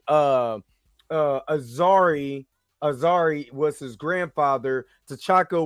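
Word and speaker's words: Azzuri: and I said it wrong uh uh Azari Azari was his grandfather to choco was his father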